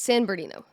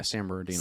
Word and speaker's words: San Bernardino: San Bernardino San berino it's San berino yeah San Bernardino San Bernardino but from San berino San ber that's just I am from San California I'm like there's a couple more syllables in there but you get the